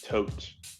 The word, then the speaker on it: Todt: Disney to be a perfect little town the tote family came from Connecticut to escape some criminal